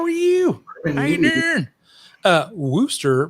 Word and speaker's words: Worcester: noob what's up man how are you uh wooster pronounced easter my little bronies now they definitely do